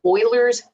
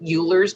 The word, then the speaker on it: Euler's: let's talk about that base first it's called euler's constant i know it looks like euler's but it's pronounced euler's and it is represented by the